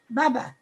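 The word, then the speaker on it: bubbe: my grandmother Bubby, so I'm not sure how to pronounce this, but Bubba, Bubby, correct me. Yes. No, I'm just saying it's Bubba.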